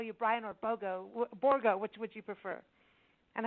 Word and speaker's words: Borgo: I mean, no one says it that way in the United States. Everybody just says borgo. So just like the phonetic spelling of it that I'm using, it's pronounced the same way.